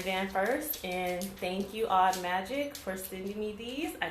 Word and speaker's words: Audmagic: support her she's at a-u-d-m-a-g-i-c pronounced odd magic these smell delicious i do plan on opening the van van first and thank you odd magic for sending me these